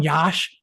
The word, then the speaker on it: Yash: That's how you pronounce his name. I call him Yash for short, Y-A-S-H.